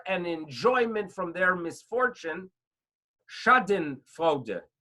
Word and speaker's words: Schadenfreude: There's a term of Schadenfreude. Schadenfreude.